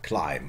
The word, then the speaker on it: climb: yeah claim and later climb and B is lost somewhere on the way okay German we still